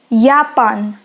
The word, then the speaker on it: Japan: Remember that the alphabet J is pronounced as Y in German. So it becomes Japan. Sie kommt aus Japan.